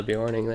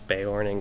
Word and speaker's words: Beorning: Well, apparently I followed the Bjorning there. Or Beorning. I don't know, I've always called them Bjornings, but whenever I've actually heard them pronounced in game, it's Beorning, which kind of bothers me.